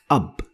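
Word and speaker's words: أب: using these four letters like the word up up and this is how it is pronounced pronounced in English up and it means father AB means father another example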